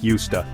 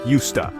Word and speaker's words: used to: where many Learners stumble when we say used to we often blend the words together so it sounds like USTA this blending makes the phrase flow more naturally in conversation it's not used like the verb to use which rhymes with fused the pronunciation is different because of the context in which it's used instead it's more like USTA this subtle difference can